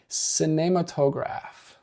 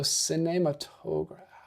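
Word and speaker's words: Cinématographe: She says it's apparently pronounced cinematograph. See, I want to immediately go into a Spanish accent because that's what I took 2 years of in high school. But I'm trying to get my French accent down a little better. Plus an accent on the R if you want to do it. Be more accurate with the French pronunciation, lol.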